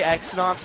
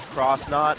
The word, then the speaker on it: X-Nauts: I say X-Nauts, but I've heard it's supposed to be pronounced Cross-Knot, but that's dumb and lame, so I'm going to pronounce it X-Knot.